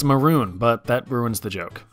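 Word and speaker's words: Mörön: Mongolia named after you sadly it's pronounced maroon but that ruins the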